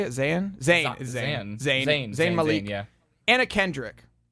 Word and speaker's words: Zayn: Is Zayn.